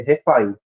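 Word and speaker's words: רפאים: né ref né Eh mas se pronuncia mais corretamente é refa e em vários lugares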